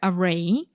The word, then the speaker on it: array: a wider array array the stress is on the second syllable yeah for a wider array of possible use cases